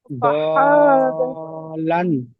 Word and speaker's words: ضالاً: জি ضالاً, দলান হ্যাঁ, দলান ضاد, দ আমাদের বলে, দ বলে টানবেন, শোনেন আমার কথাটা, দ বলে টানবেন, টেনে লামের মাথায় দল, দলান, দলান হ্যাঁ দলান হ্যাঁ, গুন্না করবেন, লান ফাহাদা, লান ফাহাদা মাশাআল্লাহ।